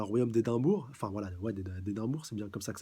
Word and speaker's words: Édimbourg: Lors de l'arc des vampires d'Édimbourg, et on sait qu'il y avait un royaume d'Édimbourg, enfin voilà, ouais, d'Édimbourg, c'est bien comme ça que ça se prononce.